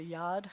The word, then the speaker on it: Yud: Yud is supposed to be a hand, which is a yad, so you'll hear some people pronounce it as yad.